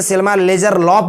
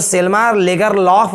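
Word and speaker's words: Selma Lagerlöf: ठीक है, इसको स्वीडिश में सेल्मा लेगरलॉफ भी बोलेगा तो गलत नहीं है ना। स्वीडन एक कंट्री है, उसके हिसाब से अगर इसका प्रोनाउंसिएशन किया जाएगा तो सेल्मा लेगरलॉफ भी सही है, गलत नहीं है।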